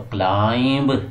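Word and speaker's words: climb: आगे आगे जी क्लाइंब, तो क्लाइंब नहीं बोलना, क्या बोलना है, क्लाइंब, बी इसमें साइलेंट है, यानी एम के बाद बी साइलेंट होता है।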